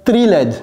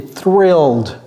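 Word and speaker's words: thrilled: What aboutill il y a un H dedans. N'oubliez pas le H. OK. Ne dites pas trilled. Non, c'est thill exhausted.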